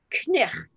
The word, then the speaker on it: knife: sound more french and they made the k silent but they kept the